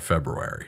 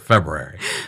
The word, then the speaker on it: February: Is it really silent? Or are you supposed to say February? We're all probably trash saying it incorrectly, but it is spelled February. Yeah. So, you're supposed to hit it like lightly. You know what I mean? Just like bounce off of it.